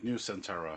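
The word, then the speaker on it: Nusantara: going to be called yeah you know my pronunciations aren't great yeah that's something n-u-s-n n-u-s-a-n-t-a-r-a new centaura yeah they say change is good let's see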